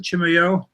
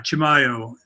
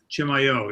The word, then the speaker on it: Chimayó: uh en Enchanted Landscapes of chimo is that how you pronounce it chimo yeah Chimayo Chimayo yes uh and um L uh photography